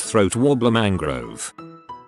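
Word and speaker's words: Raymond Luxury-Yacht: You see, it's spelled Raymond Luxury Yacht, but it's pronounced throat wobbler mangrove.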